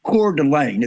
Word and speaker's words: Coeur d'Alene: I think I pronounced it. It's called Coeur d'Alene.